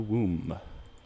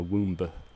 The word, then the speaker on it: womb: It begins when they're in the womb. The womb. Why is there a B on that word also? It's like, what's with silent letters altogether?